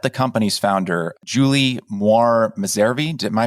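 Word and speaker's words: Messervy: it you met the company's founder Julie moir miseri am I pronouncing her last name correctly yes you met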